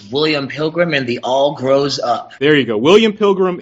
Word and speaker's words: William Pilgrim and The All Grows Up: We are, I guess the title is correctly pronounced as William Pilgrim and the All Grows Up.